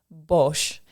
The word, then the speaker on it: Bosch: was just confirming this this student's last name is pronounced Bosch and sometimes yeah you